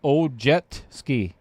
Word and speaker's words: Ojeski: We've got Dave Peters and Paul Ojeski. Ojeski. He always tells me to pronounce it like Ojetski.